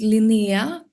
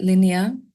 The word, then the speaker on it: Linea: Hi, welcome to Darker Side of Music and our latest interview with singer-songwriter Linea. Now, is your name Linea? In Swedish it's Linea, but I often hear that Linea.